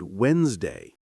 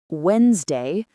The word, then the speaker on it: Wednesday: Then we practiced words that sound shorter than they look, like comfortable, vegetable, and Wednesday. Wednesday comfortable vegetable.